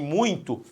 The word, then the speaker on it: muito: Por exemplo, aqui em muito, aí vai ter que ser por pronúncia mesmo. Você fala muito, ó, muito importante ou muito importante? Muito. A força tônica está no U é a vogal, o I é a